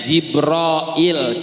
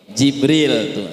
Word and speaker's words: Jibril: Allah wajib Rohil Bu bacanya sebenernya jibroil cuman orang Indonesia bilangnya Jibril sama asalnya Sayyidah Sayyidah